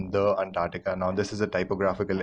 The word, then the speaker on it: Antarctica: antarctica all right and remember there's a c there so you'll pronounce it antarctica it's not antarctica don't say antartica that sounds wrong antarctica is actually the correct